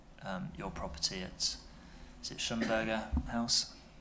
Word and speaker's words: Schlumberger: property at, is it Schumberger House? There are lots of pronunciations of this building. So we have in Aurora call it Schlumberger, but that's by the by, yes.